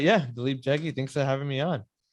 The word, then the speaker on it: Dalip Jaggi: And so let me introduce Dalip Jaggi. And I did say that right? You said it right. Yeah. Dalip Jaggi.